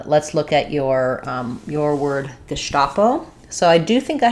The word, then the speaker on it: Gestapo: The stress is on the sta syllable, and letter S says the SH sound in German. So Gesta, letter A says the A sound in German, and then it's just going to be a short O, Gestapo, O.